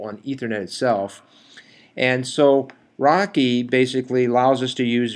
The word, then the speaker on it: RoCE: itself a little bit rdma over converged ethernet pronounced rocky is how system z